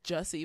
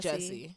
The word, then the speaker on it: Jussie: Jussie. It's Jussie, but with the way people are all pronouncing it is like Jesse.